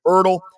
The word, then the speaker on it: Erdle: Nicholas Erdle. Did I pronounce that right, Doctor?